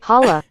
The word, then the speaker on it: challah: Holla. Do it again. Do it again. Holla, holla, holla, holla.